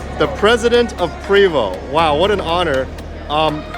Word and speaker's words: Prevost: words you said but Prevo is actually the right table exactly okay you're